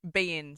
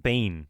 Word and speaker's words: beIN Sports: beIN Sports. Like Bean, like B-E-A-N. No, Mr. Bean. like BEIN, like be in it, like beIN Sports.